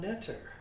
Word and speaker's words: Netter: I'm Michael Orwig, and I'm here at the home of Netter. Give me the French pronunciation.